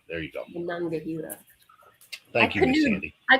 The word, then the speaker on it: Monongahela: I always say the river name wrong. Mahangahela rye. Monongahela. Monongahela. There you go. Monongahela.